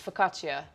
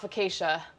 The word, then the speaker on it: focaccia: fresh focaccia bread focaccia i looked it up yesterday to make sure i was pronouncing it correctly i am it's focaccia focaccia yeah there we go no it's not fakeisha yeah we're gonna get